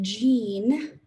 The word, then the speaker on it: Jean: so in his box jean that's a soft g and a long e gene has 60 cookies in